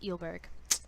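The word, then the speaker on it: Eulberg: that our friends by Elizabeth Ile Berg that's how you pronounce the last name I meant to do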